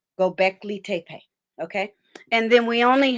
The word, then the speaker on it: Göbekli Tepe: get through it it's gonna be okay it's pronounced uh go back lee tape gobekli tape okay and then we only have three webbies